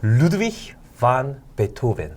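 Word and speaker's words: Ludwig van Beethoven: 루드비히 반 베토벤. 그리고 제가 알기로는 작가님은 영국에서 예. 공부하신 걸로 알고 있어요. 예. 영국 발음은 좀 다른가요?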